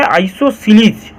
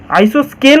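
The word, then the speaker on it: isosceles: এখানে স্পেলিংটা একটু গন্ডগোল হয়ে গেল মনে হচ্ছে, CELES SCLES, আইসোসিলিস উচ্চারণটা হবে আইসোসিলিস। আইসোস্কেল অনেকে উচ্চারণ করে, ওটা স্কেল হবে না, আইসোসিলিস ট্রাপিজিয়াম।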